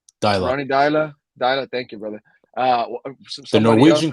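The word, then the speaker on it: Deila: Ronnie Dyla. Ronnie Dyla.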